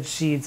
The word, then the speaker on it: sheds: ill deeds and yes i said sheeds and not sheds because apparently there was a convention in the elizabethan times where sheds could be spelled as sheeds so that it can rhyme with such words as deeds so what's going on